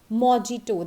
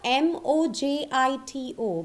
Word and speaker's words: mojito: first one being mojito it has never said as mijito the Spelling's are m oj i t oh but exact pronunciation is mojito I have seen so many people around me calling it as mijito but it is mojito okay so from the